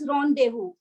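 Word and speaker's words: rendezvous: But it is pronounced as ronu.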